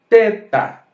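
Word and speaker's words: θῆτα: letra é o teta teta lembra que eu pronunciei como feta aqui você tem que pronunciar como teta por quê Porque o clássico ele requer isso a próxima letra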